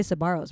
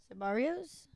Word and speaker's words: Sbarro's: I love that she goes, "When did you learn to say Sbarro's right?" Sbarrios? What did I say? No, Sbarro's is correct. You're saying it right now.